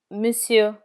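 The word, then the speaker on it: monsieur: Sir or gentleman is misu. In misu the final R is never pronounced.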